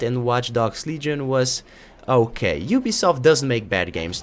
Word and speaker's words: Ubisoft: for this game and they all rhyme with my piss off yeah that's right you guessed it it's Ubisoft known for Assassin's Creed